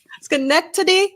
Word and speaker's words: Schenectady: according to WGY Radio in, I can never pronounce this right, Schenectady. Schenectady.